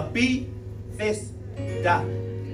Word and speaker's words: Bethesda: The best way to pronounce that word is the Bethesda.